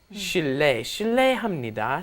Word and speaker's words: 실례합니다: But what happens is, of course, it just ends up being pronounced 실례, 실례합니다, 실례입니다.